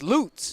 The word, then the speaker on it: Lutz: my main man loots i've been pronouncing it let's but it's loots yes we actually do